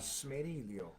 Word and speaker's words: Smeriglio: Smeriglio. Smeriglio. I don't know. Smeriglio. How do you say it? There's a G in there that's silent, right? Silent. Yeah.